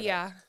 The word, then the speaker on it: Olya: Olya. Yes, that's the reason, because I can't pronounce her name. Yeah, it's Russian. It's Russian. It's so difficult.